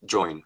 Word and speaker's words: Joyn: forward to this conversation and that's how I pronounced join right that's correct cool so I'd love it